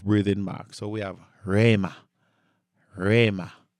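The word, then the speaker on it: ῥῆμα: So, the word of Christ, so the word rhema, Colossians 3:16. Rhema, rhema. Remember, whenever the rho begins a word, you always want to pronounce it with a rough breathing mark.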